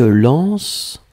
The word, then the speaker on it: lancent: Alors, on ne prononce pas le « E-N-T » comme d'habitude, hein, mais on écrit « L-A-N-C-E-N-T ».